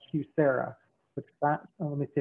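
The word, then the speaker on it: QSEHRA: us so we finally found this program called cusera which that let me see if i get this right qualified small employer health reimbursement account that is it's pronounced hugh sarah q s e h r a um and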